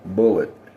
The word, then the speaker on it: Bulleit: I'm just going to pronounce it the most natural way. Bullet."